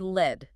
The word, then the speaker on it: lead: Take the word lead, spelled l e a d. It can be the heavy metal, rhyming with bed, or it can be the action of guiding someone, rhyming with bead.